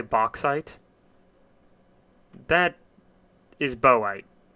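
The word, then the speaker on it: bauxite: That is boite. B A U X I T E. A U X makes an O sound.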